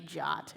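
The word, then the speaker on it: JWT: the first is kind of identifying what a jot is don't ask me why it's spelled jw2 in pronounced drop can't find any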